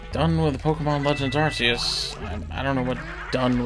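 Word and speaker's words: Arceus: them there just arus that's pronounced arus okay nobody says AR yes arus why am I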